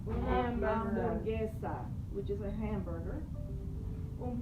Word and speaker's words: hamburguesa: Una hamburguesa, remember the H is silent. Una hamburguesa, which is a hamburger.